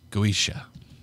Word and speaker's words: Goetia: This book is Ars Goetia. That is probably not how that's spelled.